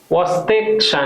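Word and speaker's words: Chvostek: है इस ठीक है वस्ते वस्ते साइन का इसका क्या मतलब हुआ इसमें सी जो है साइलेंट रहेगा वस्क इसमें क्या होता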